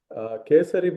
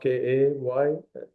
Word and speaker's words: Kesari: called Ravva halwa or Kesari. It's several names, right? Kesari, Kesari, or maybe pronounced Kaysari.